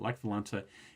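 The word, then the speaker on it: Lech Wałęsa: Lech Walesa has this, it's W-A-L-E-S-A. I'm not sure why it's pronounced this way. It's, it's a Polish pronunciation. But Lech Walesa is the leader of the Solidarity Party, which starts out as a union.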